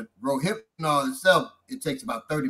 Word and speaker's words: Rohypnol: So anyway, many times, the effects of roofanol, how you pronounce it again, Bob? Rohypnol. You can see in there, it's got like hypnosis, rohypnol.